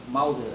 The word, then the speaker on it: Mauser: Meu nome, a pronúncia é Mauser. eu achei que era. Aí as pessoas pensam, pô, vai vir um alemão. Mauser, é Mauser. O Mauser.